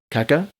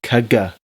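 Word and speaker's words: caga tió: Oh, Kaka? maybe. Maybe we're just all saying it wrong. We're saying it like kaka. But it's There's a kaga. maybe. Maybe. Kaga Tio.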